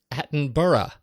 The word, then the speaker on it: Attenborough: of Richard Attenborough intentionally incorrect attenborough's name it's pronounced Aton burra not since Simon and gar funcle scarl Scarboro